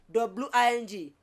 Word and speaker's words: wing: You see again, for instance, W-I-N-G, wing.